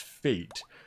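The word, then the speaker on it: Faete: So that's F-A-E-T-E, pronounced Fate.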